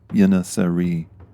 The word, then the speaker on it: Yeŋiçeri: The Turkish pronunciation for the fighters is in the title of these Patreon specials, Yeŋiçeri, in which Ottoman Turkish